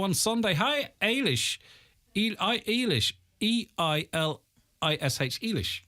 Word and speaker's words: Eilish: E-I-L-I-S-H. Eilish. Because Eilish would be A-I-S-L. No, E-I is pronounced A, I think.